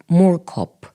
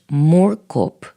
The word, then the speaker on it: Moorkop: speak about the project that you did around Moorkop. And maybe I'm mispronouncing it. So if you could perhaps tell me, how is it pronounced? Moorkop.